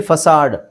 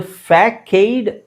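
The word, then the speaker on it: façade: ಹಿಂಗಇದೆ ಅಂತ ನನಗೂ ಗೊತ್ತಿಲ್ಲಎಸಎಡಿ ಇದು ಫ್ಯಾಕೈಡ್ ಆಕ್ಚುಲಿ ಅದು ಅದರ ಉಚ್ಚಾರಣೆ ನೋಡಿದಾಗ ಫ್ಯಾಕೈಡ್ ಅಥವಾ ಫೇಕೈಡ್ ಅಂತ ಅನ್ಸಬಹುದು ಬಟ್ ಬಟ್ ಆಕ್ಚುವಲಿ ಅದು ಉಚ್ಚಾರಣೆ ಫಸಾಡ್ ಫಸಾಡ್ ವಿಚಿತ್ರ ಅಂತ ಅನ್ಸುತ್ತೆ ಆ ಫಸಾಡ್ ಫಸಾಡ್.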